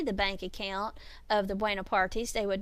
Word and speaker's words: Buonaparte: name was not Napoleon Bonaparte, it was Napoleon Buonaparte. And I don't know if you can hear the subtle difference in that, but Bonaparte is the French spelling and pronunciation of his name. Buonaparte is the Italian.